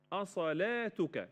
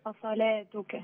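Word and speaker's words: أصلوٰتك: رسم المصحف رسم العثماني ان في هنا الواو هذه الواو لا تنطق واو لكن مرسوم فوق منها الف او واحد كده اسمه اسمها الف خنجريه فبن طقها الف بقول اصل مش اصلوا اصلاتك اصلاتك نعم تمام قالوا يا شعيب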